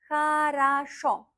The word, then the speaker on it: хорошо: And we pronounce хорошо.